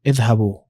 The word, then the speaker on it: اذهبوا: So اذهب, and then you add واو and alif, and this alif is silent. أنتم اذهبوا.